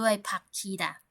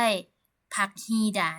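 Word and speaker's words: 박히다: นะ คะ ไม่ ใช่ ผัก ฮี ด่า นะ ฮะ เพราะ ว่า ตัว สะกด ก ไก่ นะ คะ ไป เจอ กับ พยัญชนะ ต้น ฮน ฮูก นะ ค เสียง ฮน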